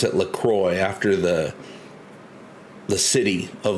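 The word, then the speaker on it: LaCroix: diet is lacra I I used to call it lacro cuz I thought it was pronounced the French way but I looked up the company and they pronounce it lacroy after the the city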